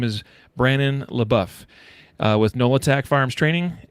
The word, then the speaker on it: LeBouef: does that correct prediction Brandon Brandon LaBeouf but yeah LaBeouf LaBeouf okay so I know someone else that similar but they pronounced a little poof that's that's a very subtle distinction isn't it it's it's yeah it's I'm in south Louisiana so it's probably a little more dialect than it is anything else excellent well